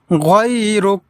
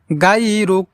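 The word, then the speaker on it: غَيْرُكَ: প্রিয় দর্শক, অনেকেই আমরা এই জায়গায় ভুল করে থাকি, যে বলে থাকি গায়রুক, কিন্তু এখানে আমাদেরকে শুদ্ধ উচ্চারণে পড়তে হলে এইভাবে পড়তে হবে। গাই বলা যাবে না, বলতে হবে গয় গয় গয়রুক গয়রুক গয়রুক।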